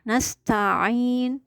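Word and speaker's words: نستعين: Itu ada ain yang cenderung menyerupai hamzah, maka akan menghilangkan karakter ain ketika memang tidak dilafazkan dengan benar ya. Maka pengucapan ain ini harus terdengar sempurna. Nasta'in, benar-benar keluar dari tengah tenggorokan.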